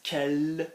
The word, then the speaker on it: quelle: Which girls, quelle fille. Yeah? Quelle fille, it sounds the same, unless of course you